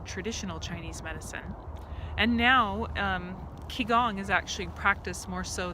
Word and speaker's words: Qigong: practice or the lineage practice of Qigong or ki Gong as they pronounce it and that became rooted out of traditional Chinese medicine and now ki Gong has actually practiced more so than Tai Chi